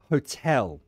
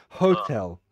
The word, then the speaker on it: hotel: it's the pronunciation of hotel so you stressed the first syllable you said hotel but no we stress we stress the second syllable hotel hotel right so one more